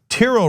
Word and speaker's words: Tiro: Tiro writes in, and he explains that it rhymes with Firo, so I got it.